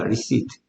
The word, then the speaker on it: receipt: 그들의 receipt. 발음이 중요합니다. receipt.